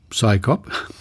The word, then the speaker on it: CSICOP: Scyop, pronounced psychop.